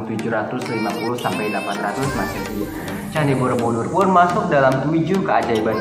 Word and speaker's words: Borobudur: arti atas yang kemudian jika digabungkan menjadi kata Borobudur dibacanya Borobudur yang berarti Kompleks biara di atas Oke